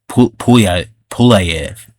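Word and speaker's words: Pulyaev: Pulayev. That's how you pronounce it.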